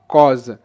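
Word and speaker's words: cause: Next কজ, সি এ ইউ এস ই, এটার উচ্চারণটা কজ, কজ। তো এখানে কিন্তু সি এর সাউন্ড হবে ক, সি তে ক, এ ইউ এর সাউন্ড আমরা জানি অ, তো ক অ ক, এস এর সাউন্ড এখানে হবে বর্গীয় জ, আর শব্দের শেষে ই সাইলেন্ট। তো এখানে ক অ জ, কজ।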